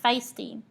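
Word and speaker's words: FSTI: fresh stop training institute accordingly pronounced feisty feisty will utilize a leader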